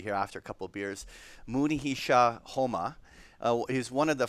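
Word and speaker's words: Munehisa Homma: trader this Mooney he shot so I'm gonna pronounce it properly here after a couple beers Mooney he Shaw Houma he was one of the first and one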